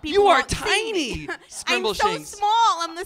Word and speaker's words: Scrimbleshanks: Welcome, Scrumble. Oh, sorry for the cord hello, there. Welcome, hello. Welcome, Scrimbleshanks, to Dr. Fix Me. It's pronounced Scrimbleshanks.